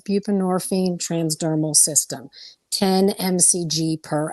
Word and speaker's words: buprenorphine: it's all the same buprenorphine I think is how you say it I always kind of say it wrong I always say buprenorphine but it's buprenorphine oh I've heard so